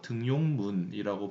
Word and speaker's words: 등용문: 자, 등용문 같은 경우는 등용문으로 발음되는 것이 아닙니다. 왜 그럴까요? 등용되다 플러스 문이기 때문에 우리가 니은이 첨가가 되면 어디에 첨가가 되면 이 사이에 첨가가 되겠죠. 근데 니은이 첨가될 위치가 없네요. 그래서 이 등용문은 그대로 등용문이라고 발음이 되겠습니다.